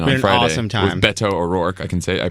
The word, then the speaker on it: Beto O'Rourke: With Beto O'Rourke. I pronounced it correctly now.